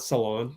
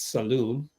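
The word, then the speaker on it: Salaün: Salon. It's not salon. It's saloon.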